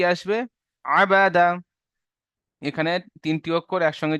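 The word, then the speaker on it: عَبَدَ: আইন সাবার আ বা সাবার বা আ দা সাবার দা তাহলে শেষ পর্যন্ত উচ্চারণ কি আসবে আবাদা এখানে তিনটি অক্ষর একসঙ্গে যে একটা ওয়ার্ড তৈরি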